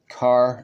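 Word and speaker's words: Kaare: Samnee, and a variant cover by someone named Carr Andrews, and that's spelled K-A-A-R-E, Andrews.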